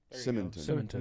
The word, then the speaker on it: Simonton: It's spelled Simonton. Simonton.